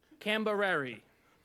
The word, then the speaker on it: Cambereri: Cambereri. That's good. It rhymes with Tipperary.